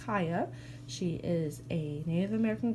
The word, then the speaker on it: Kaya: her name is kaya it might look like ko or Kayla her people print out - any different ways but it's pronounced kaya she is a Native